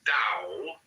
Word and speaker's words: Tao: The word Tao, properly pronounced Tao, has lent its name to a way of understanding and living in the world with profound implications for modern societies.